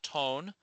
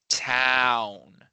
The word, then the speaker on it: town: In English we say town. It's not tone or tone or ton. It's town.